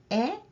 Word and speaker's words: へ: at this hiragana character this is he however this is pronounced as E when it is used as a particle let's look at the